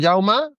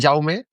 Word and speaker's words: Jaume: Bueno, pues yo soy Jauma, mucha gente, Jaume. sí, bueno, se escribe Jaume, pero en catalán se pronuncia Jauma, pero bueno, mucha gente me dice Jaume y no pasa nada.